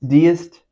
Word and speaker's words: deist: I feel like I always read it deist. Deist. I don't know. I do believe it's deist now. Now that I'm saying this, probably said it 8 times already. Wrong. I do believe it's pronounced deist.